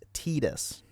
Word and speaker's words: Tidus: Uh, the pronunciation of his name first confirmed is an official localization of Kingdom Hearts which features him in a cameo where his name is pronounced Tetus.